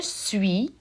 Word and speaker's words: suis: here for just sui you'll notice that that final s is silent so it's there and